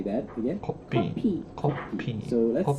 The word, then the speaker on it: 커피: Change that F sound to the P sound because in Korean there's no F sound. So say that again. 커피.